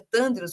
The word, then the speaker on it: Thandyrus: Eu não sei se eu pronunciei, inclusive, seu nome corretamente, é Tândrios mesmo? Tá mutado seu áudio. Você pronunciou corretamente, sim.